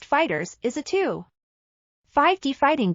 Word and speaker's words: FighterZ: Dragon Ball fighter Z 2018 Dragon Ball fighter Z pronounced Fighters is a two 5D